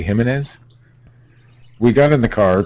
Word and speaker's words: Gimenez: out of the room the JS usually have an H pronunciation Steve himz Jose Jose gimenez we got in the car to drive back to Laura del Rio at about 12:30 a.m.